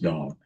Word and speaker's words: Dan: the tribe of Dawn, is pronounced Dawn, not Dan, it's pronounced Dawn.